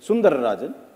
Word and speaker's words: Sundararajan: No one could pronounce it, yeah. No, we can. This is Sundararajan.